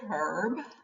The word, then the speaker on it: herb: So, is it herb or is it herb? Well, I meant to say herb, but I usually say herb. The H is generally not pronounced by most Americans, but either is correct.